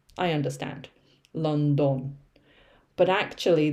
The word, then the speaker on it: London: okay people always say london because of the spelling i understand london but actually this part here is the schwa sound uh london okay so